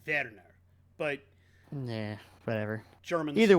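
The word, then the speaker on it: Werner: Bjorn Warner okay and it would probably be pronounced verer but yeah whatever German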